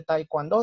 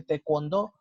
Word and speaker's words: taekwondo: Yo les comentaba que no se dice taekwondo, sino se dice taekwondo, o por ejemplo no se dice Hyundai, sino se dice Hyundai, por ejemplo.